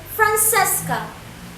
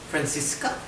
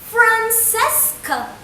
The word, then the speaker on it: Francesca: She says that it sounds so chichi, so Italian.